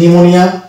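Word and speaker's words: pneumonia: এখানে হচ্ছে নিউমোনিয়া M silent থাকছে, নিউমোনিক।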